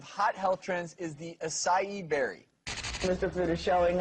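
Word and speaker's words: açaí: So the berry is pronounced acai, even though it's spelled A-C-A-I.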